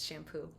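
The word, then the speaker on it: Champoux: has a great name it's French name Peter shampoo is his name but it's spelled like c-h-a-m-p-o-u-x so it's shampoo um so Peter shampoo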